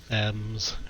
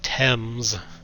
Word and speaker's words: Thames: But anyway, yeah, I can't believe they just pronounced it Thames, or it's supposed to be pronounced Thames, unless you're completely clueless, or like a typical American.